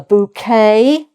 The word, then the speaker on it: bouquet: And then finally uh a bouquet again without the t sound.